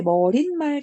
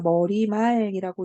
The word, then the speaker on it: 머리말: 애초에 머릿말, 자, 이렇게 발음 안 해요. 자, 머리말이라고 있는 게 표준 발음이에요.